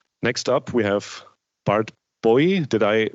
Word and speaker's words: Booij: Okay, next up we have Bart Booij. Did I pronounce that correctly? Booij, okay.